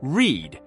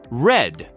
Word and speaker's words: read: The word read actually changes its pronunciation based on tense. In the present tense, it's pronounced read, as in, I read books every day. But when you use it in the past tense, it shifts to read. Just like the color, for example.